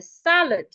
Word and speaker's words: salad: So look at the first example I have here, salad. Salad has 2 syllables and it is a noun. So because it is a noun and it has 2 syllables, I need to stress the first syllable.